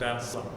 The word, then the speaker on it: Anselm: It is written Ansclm, but is pronounced as St. Anselm.